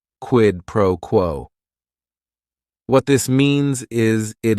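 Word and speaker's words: quid pro quo: It is three words. Each word is only one syllable. And if you're saying it together, the stress is kind of on that first word and that last word quidd proquo.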